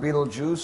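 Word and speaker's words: Betelgeuse: bright as our son then there's Beetle Juice pronounced Beetle Juice spelled belese Beetle juw the gigantic star in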